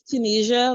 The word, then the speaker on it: Tunisia: It's Tunisia, like the country, if you guys want to know how to pronounce it.